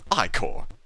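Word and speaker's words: ichor: it with magical echo that's pronounced Oh I Corps my mistake I Corps choose your I Corps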